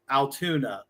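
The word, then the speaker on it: Altoona: Spelled with O's and not a U. Correct. Correct. Sounds like Toon Town. Yes.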